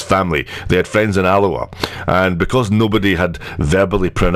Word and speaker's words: Alloa: being pronounced by anyone, they just assumed it was pronounced Aloha. So they thought that their friends came from a town named after a Hawaiian greeting.